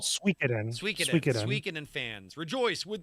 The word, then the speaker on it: Suikoden: It's Suikoden. called Suikoden.